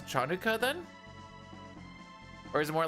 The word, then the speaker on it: Hanukkah: should chan I guess you'd pronounce chanuka then or is it more like a kanuka? Hang on. I actually need to figure this out. Hanukkah. Huh? It's pronounced the same.